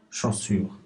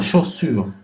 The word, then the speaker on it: chaussure: Mais pour chaussure, poussin, on entend S, on n'entend pas Z.